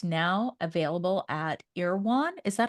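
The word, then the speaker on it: Erewhon: launched in 2020 and it's now available at irwan is that how you pronounce it irwan Market yeah oh I did it right look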